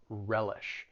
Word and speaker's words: relish: are some useful collocations when it comes to pronouncing the verb it has two syllables the stress is on that first syllable relish she won't survive I